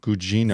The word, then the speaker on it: Gugino: I never know how to say her last name, but Carla Gugino? Gugino.